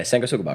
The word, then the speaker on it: Sanguisugabog: the fuck you pronounce Yeah. that? Okay. Yeah, Sanguisugabog.